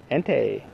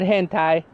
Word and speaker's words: Entei: Leo has all right how do you pronounce his name ante ante right not hantai no aunty that's not